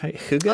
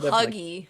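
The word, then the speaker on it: hygge: Denmark too with the Huga is I believe Huga oh I love how you pronounce it that's their whole me hugy yeah h y g g e it's kind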